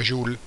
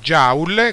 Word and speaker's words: joule: è l'unità di misura joule, che non si pronuncia joule come si dice in Italia, ma si pronuncia joule.